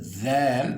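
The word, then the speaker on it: ذال: Pour le zal, vous essaierez de mettre la langue entre les dents.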